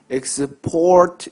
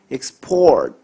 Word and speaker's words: export: 그러니까 동사로 발음할 때는 export 뒤쪽에서 이음절로 가야 돼요. export 이렇게 하지 않고 그냥 그 단어를 쪼개요. 이음절로. export. 잘 듣고 계시죠? export. 하면 이게 동사로 수출하다예요. 그럼 반면에 수출할 때는요. 발음이 어떻게 될까요? export. 이런 식으로 발음하셔야 돼요. export. 어떤 차이가 있느냐? 동사로 발음할게요. export. 명사로 발음할게요. export. 단어 발음 구분하셔야 됩니다.